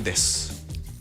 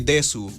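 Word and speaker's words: です: Kapag sinabi mo yun, na imbis na des, sinabi mo desu, mali ka nun. Des dapat yun. Hindi mo dapat pinopronounce yung you.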